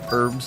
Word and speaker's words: herbs: herb you smoke herb it's herbs and spices in it the H is silent Real G's moving silence